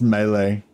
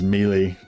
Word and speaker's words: melee: 21 units pronounce the word melee it's it's pronounced melee but um but I when I learned that